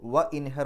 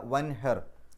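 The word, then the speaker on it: وَانْحَرْ: അപ്പോ അതിന്റെ കല്പനക്രിയ ഇൻഹർ നീ ബലി അറുക്ക് താങ്കൾ ബലി അറുക്ക് എന്ന രൂപത്തിൽ വാും കൂടെ ചേർത്ത് പറയുമ്പോൾ വഇൻഹർ എന്ന് പറയില്ല വൻഹർ ആ തുടക്കത്തിലുള്ള ഹംസത്തു വസലിന്റെ ഉച്ചാരണം നഷ്ടപ്പെടും അപ്പോ വൻഹർ താങ്കൾ ബലിയറുക്കുകയും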